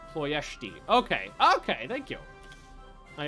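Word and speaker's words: Ploiești: when this is done the S is actually an S with a little dongle which is pronounced like a sh so it's like ployeshti okay okay thank you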